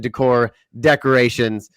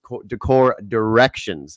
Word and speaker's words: Decor Directions: They give me a hard time because I was the one that was messing it up, and I was always saying Decor Decorations, but it's Decor Directions.